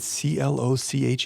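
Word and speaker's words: cloche: You say cloch like slosh.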